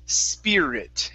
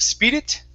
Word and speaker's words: spirit: this first word here we want to say spirit instead of speed it spear spirit try that spirit okay one more time instead of using an ooh saying spew it okay it's spear spirit spirit there you go okay